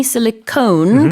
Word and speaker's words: silicone: Oh, is it spelled differently? There's an E on that one. Yeah. So just be careful of the pronunciation there.